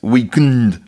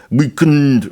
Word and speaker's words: The Weeknd: Now, The Weeknd is actually pronounced Weeknd like that. Weeknd, right?